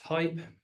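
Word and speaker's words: HAIP: Uh so the next one is high assurance interoperability pronounced hype.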